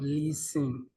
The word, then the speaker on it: listen: Someone pronounced the word spelled L I S T E N as listening instead of listen. It's listen. The T is silent.